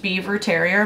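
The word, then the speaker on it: Biewer Terrier: It's pronounced beaver terrier, but it is spelled viewer terrier.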